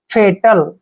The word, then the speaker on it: fatal: Next word FATAL, एफ का उच्चारण फै करते हैं, ए को ए की मात्रा पढ़ते हैं और TA को टे पढ़ेंगे, एल को ले। फेटल, फेटल मीन्स होता है विनाशकारी, फेटल विनाशकारी।